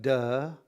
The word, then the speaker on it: Te: You have Tao, you have De, which is spelled T-E, but it's pronounced De, and then Jing, and